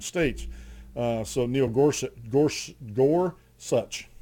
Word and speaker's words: Gorsuch: so Neil Gor Gor Gor such as how it's pronounced Gorsuch but justice Gorsuch wasn't